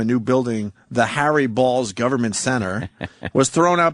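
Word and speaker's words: Baals: real Harry ball BS who indeed pronounced his name balls of course right here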